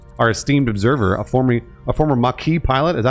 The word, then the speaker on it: Maquis: I prefer the TNG pronunciation, Maquis.